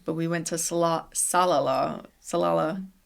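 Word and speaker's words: Salalah: Salala Oman, I think is how it's pronounced. Say that three times fast. Salala.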